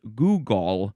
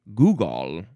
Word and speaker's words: googol: This one though, looks like it's more pronounced Google. You kind of have to say a gall at the end because it is spelled G O G O L. Google. Noun from 1938. Let's just confirm that pronunciation. Uh yeah, Google.